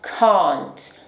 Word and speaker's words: can't: O som de A em inglês britânico é pronunciado lá no fundo da nossa boca, diferente do inglês americano, que é pronunciado lá na frente da nossa boca, ok?